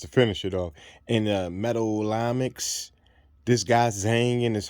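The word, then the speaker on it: metallomics: And just a side word note, that word I was trying to pronounce was metallamics or metallamic techniques.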